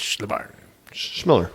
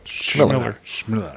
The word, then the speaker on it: Chmilar: And his last name is pronounced just like it's spelt as well. So, I mean, we fumbled around with that for a while. He's like, it's Schmiller. Schmiller.